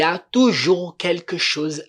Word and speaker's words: toujours: Esse toujours aqui é sempre, sempre, toujours. Percebam novamente que o S não é pronunciado aqui. O S não é pronunciado. A gente fala toujours.